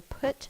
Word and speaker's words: put: I will put my pencil down. Put. Like book. Is spelled with a U.